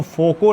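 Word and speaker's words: Foucault: लिखा जाए तो देखिएगा इनका स्पेलिंग थोड़ा सा फोकोल लिखने में अजीब होता है लेकिन इसको आप लोग फ़ोंको पढ़िए ना और भंवर धारा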